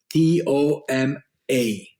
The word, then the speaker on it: Toma: the name of it t o m a Toma okay it's spelled like it sounds and just a a